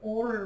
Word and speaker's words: Oura: I wear something called an Aura ring, which is spelled Oura.